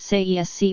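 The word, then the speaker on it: Tsaesci: That race was known as the Tsaan pronounced sees or sei that can be described as the serpent folk.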